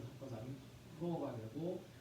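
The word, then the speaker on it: ὁ: 근데 오미크론 오 위에 거친 순표가 있잖아요. 그래서 히읗자 발음을 넣어서 호.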